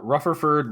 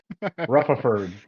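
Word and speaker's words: Rutherford: and we had uh rufferford losing his uh implant who i'm sorry uh sorry i said his name wrong again ruffleford he loses robot oh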